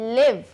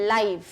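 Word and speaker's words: live: दूसरा होता है लिव, एक इसका प्रोनाउंसिएशन है लिव और एक इसका प्रोनाउंसिएशन है लाइव।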